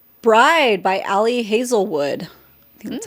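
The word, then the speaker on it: Ali Hazelwood: Bride by Alli Hazelwood.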